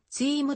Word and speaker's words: ZIM: 略語に由来し本来はチームと発音する 1945 年創業当初